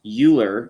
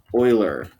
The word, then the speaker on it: Euler: big it's called the euler line it's not pronounced euler it looks like euler but it's pronounced euler okay so just the euler line there and